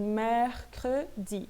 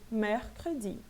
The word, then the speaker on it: mercredi: Então, esse ER faz parte da minha relação lá dos Z's abertos, tudo bem? E aí eu pronuncio bem aberto mesmo, mercredi. Esse E aqui, esse segundo E, ele é fechado, por quê? Porque ele termina em E, praticamente eu não pronuncio, mercredi.